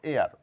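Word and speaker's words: heir: এইচ এর sound নেই এয়ার হেয়ার না বলে বলবো এয়ার উত্তরাধিকারী এইচ এর সাউন্ড নেই তাহলে কিছু কিছু ক্ষেত্রে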